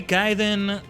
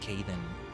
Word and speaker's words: Khaiden: And yes, it's meant to be pronounced Kaiden, not Kaden. If you call me Kaden, it's okay. Just know that it's Kai.